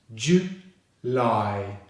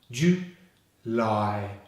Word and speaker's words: July: The last syllable starts with the L consonant and finishes on the I diphthong, as in May. So that's 2 syllables. July, July. The stress is on the 2nd syllable.